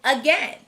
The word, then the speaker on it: again: last word is again we have seen that two syllable words starting with a often have a schwa sound and that's what we hear in again the second syllable is tricky though the vowel team a i should say the long a sound but it doesn't so we know we